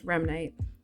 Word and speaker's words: Remnite: it's pronounced only as Remnite. Its general meaning is tied to the term rem, rapid eye movement, and the word night as slang for night. The reason why I went with the name Remnite, it just sounded nice.